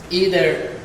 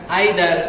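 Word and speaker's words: either: তোমাদের বোঝার জন্য বলি, এই নাইদার শব্দটা নি দ্বারা উচ্চারণ হতে পারে, আইদার শব্দটা ই দ্বারা উচ্চারণ হতে পারে। আমেরিকানটা নেদার, ইদার, আর ব্রিটিশ উচ্চারণ হলো নাইদার, আইদার, 2 রকম উচ্চারণ।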